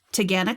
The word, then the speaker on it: Taughannock: Add to your list Taganek Falls. Taganek? Yep. Okay. It's spelled not like that at all.